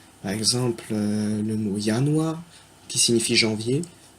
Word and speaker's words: Januar: Par exemple, le mot Januar, qui signifie janvier, il commence par un J, ça se prononce Y. Januar.